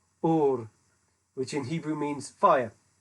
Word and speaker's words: Ur: Rather than using the guttural at the beginning of the name Ur, as I've been trying to emphasize here with my appalling Ashkenazic pronunciation of things. They use the open-voweled Ur, which in Hebrew means fire.